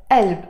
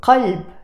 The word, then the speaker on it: قلب: We will pronounce it as alb, and that's the case with all the words that have the qaf, almost all the words that have the qaf in Lebanese Arabic.